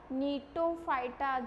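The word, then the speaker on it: Gnetophyta: फाइटा तो यहां पे क्या बन जाएगा नीटो फाइटा जी साइलेंट रहता है इसके अंदर तो इसका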